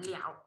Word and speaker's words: 了: Thì chỗ này mình không đọc là lơ nữa, mình đọc là lẻo.